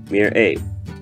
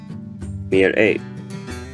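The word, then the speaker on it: מרעה: Mir'eh. Mir'eh.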